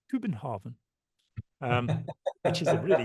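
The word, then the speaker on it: København: you can say you know actually it's not pronounced Copenhagen it's pronounced kuin Haren um which is a really useful thing to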